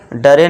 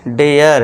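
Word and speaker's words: dare: इसे क्या पढ़ेंगे डेयर अब इसे करे मत पढ़ना केयर सरे नहीं शेयर डरे नहीं डेयर है ना ए का साउंड देना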